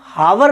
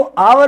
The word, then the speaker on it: hour: इसी प्रकार हमारे पास में आवर आता है, HOUR, इसको हम हावर नहीं बोलते हैं, इसको आवर बोलते हैं।